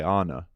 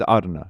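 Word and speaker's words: Arne: you pronounce his name English people would say Anna yeah but he would say ARA it is Arna yeah yeah it is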